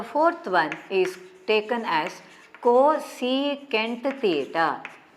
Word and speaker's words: cosecant: five alphabets don't treat it as cosec some pronounce it as cosine it is a rather odd better you read it as cosecant you pronounce it as cosecant theta and how do you define this one